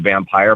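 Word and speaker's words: vampyre: And then there is what I am, which is just, it's pronounced vampire, but we spell it with a Y just to differentiate it from lifestylers and fictional vampires.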